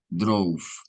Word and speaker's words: drove: Digo que terminan porque la E no se pronuncia al final, right? Mhm. Tienen que terminar el labio contra los dientes.